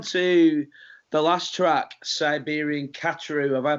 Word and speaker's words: Khatru: Okay, well, let's move on to the last track, Siberian Khatru. Have I pronounced that right? Yep, Siberian Khatru.